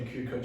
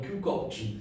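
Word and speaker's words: Kukoč: It's not Tony Kukoc, it's Tony Kukoc.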